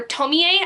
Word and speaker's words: Tomie: But starting off, the first book I ended up reading was Tomi, or Tomie, I believe is how it's pronounced, by Junji Ito.